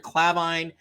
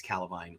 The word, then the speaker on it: Calvine: the a9 road near clavine uh i think it's calavine clavine i've been saying it wrong north of pitt lockery